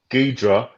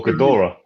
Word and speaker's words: Ghidorah: It's Ghidra or Ghidorah. Yeah. It's many different pronouncing.